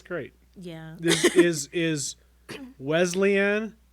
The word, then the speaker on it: Wesleyan: yeah this is is wesleyan did i say it right quote well yeah you didn't but you did you you know you were close you're better west wesleyan wesleyan wesleyan yes leslie yes wesleyan